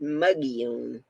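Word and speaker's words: Mogollon: my gillian is how it's spelled but it's pronounced muggione that's where bigfoot hangs out in arizona that's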